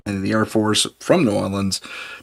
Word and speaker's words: New Orleans: the Air Force from New Orleans that's how you say it norleans New Orleans New Orleans yeah New Orleans or norleans or however it is you want to there's variations on it it don't say New